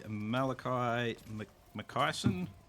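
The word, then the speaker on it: Malakai Makaisson: So this campaign we're going to do is a Malakai McKyson.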